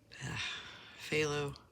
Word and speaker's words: phthalo: how you say it the pH I know is could be an F so it always trips me out when I try to read those um consonants together okay I'm just